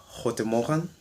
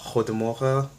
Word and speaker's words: goedemorgen: you say things like good morning, which is goedemorgen in Dutch.